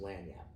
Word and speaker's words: Lagniappe: Well, first of all, Lagniappe Communications is actually pronounced Lagniappe. Okay, okay. Okay? It's French. It comes from the French Creole, okay, Louisiana okay, heritage, you know.